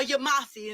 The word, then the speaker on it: Yamasee: But Josh, he said he Yamasee. Hold on. Josh, he said he Yamasee. So or Yamasi, as some people pronounce it.